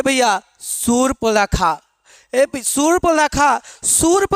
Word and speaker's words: शूर्पणखा: तो उच्चारण देखा जाए, अगर उच्चारण सही करेंगे तो शूर्पणखा क्या होगा, शूर्पणखा। ये इसका राइट आंसर हो जाएगा, यानी शूर्पणखा।